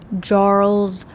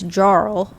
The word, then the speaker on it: Jarl: era scal jarles although I looked up and it said that you pronounce it like Jarl but I thought that the J's and like that language are like are pronounced wise because it's Bjorn not born I'm confused whatever it's